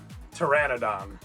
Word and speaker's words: Pteranodon: dinosaur words are weird it starts with a P that you don't say so Pteranodon I got